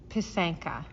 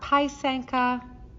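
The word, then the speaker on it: pysanka: food network even um it is pronounced pisanka not paisanka not paisanki it's pasenki um pasenka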